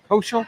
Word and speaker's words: Koshel: And I think Cam Kosil, Cam Kosel, is it Kos? How do you pronounce? Cam Koshell. Koshel. Yep. Okay. Koshel.